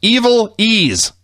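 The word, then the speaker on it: Ivelisse: names first one was eiz FES yeah pronounced evil ease so she according to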